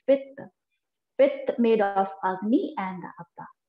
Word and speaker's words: Pitta: So Pitta is made of another Panch Mahabhut, that is the two element which is making the Pitta, the pronunciation of the Pitta, if not Pitta, is Pitta.